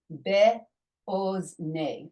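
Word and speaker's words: בְּאָזְנֵי: Okay, you notice I pronounced this kamatz as an O. This is one of the 11 times or few times in the Torah where the kamatz makes the O sound.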